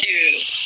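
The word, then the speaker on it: ดื่ม: you have to use the word doom low tone Doom is to drink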